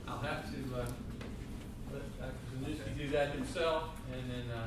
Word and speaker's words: Zaniewski: It's not a hard name. Okay, 3 syllables, Zaniewski.